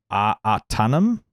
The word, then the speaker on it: Ahtanum: Artanum hops? AHTANUM? Do you know what that is? Ooh. Hey, spell that for me. AHTANUM. Artanum. Oh, It makes it Artanummy.